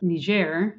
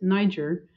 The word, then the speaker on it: Niger: in the Republic of ner which is a French pronunciation um English might pronounce it Niger uh which is sort